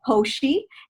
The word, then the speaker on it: Koshy: wanted to say thank you and i will pronounce my last name just so that everyone can hear it uh it's koshy and uh it's k-o-s-h-y uh i wanna say